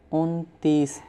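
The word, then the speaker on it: انتیس: 29 Untees. First say un and then say tees. Untees.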